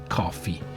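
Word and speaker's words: Ko-fi: Now, as I was just mentioning coffee, we are not just drinking coffee, but we are also on coffee. Well, let me explain. It is spelled K O FI and then you can search for cast like our channel name.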